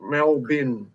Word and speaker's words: Melbourne: in a now and now it's spelled Melbourne but it's just melbin Melbourne oh you want